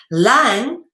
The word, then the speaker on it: lang: Lang is pronounced lang, all right? Like your breathing lung, okay?